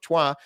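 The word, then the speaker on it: Troyes: around that time the uh the bishop of Tua which I actually looked up that's how you pronounce it the bishop of trois labeled it a cunningly painted hoax second uh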